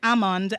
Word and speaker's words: almond: There is a particular letter there that is silent. We don't hear it when we pronounce it. And sometimes persons pronounce the word as almond just so they can remember that spelling.